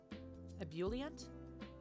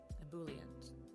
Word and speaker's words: ebullient: like synonym perhaps liveliness enthusiasm cool am i pronouncing that one right a boolean yeah ebullient ebullient all right moving on great good excellent good